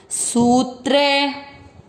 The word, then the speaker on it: सूत्रे: चौथा चरण स पर बड़े ऊ की मात्रा है, लंबा खींचना है, क्योंकि जब भी अधिक बड़ी मात्रा होती है तो उसको उच्चारण में अधिक समय देना है। सूत्रे, मणि, मणि, ग में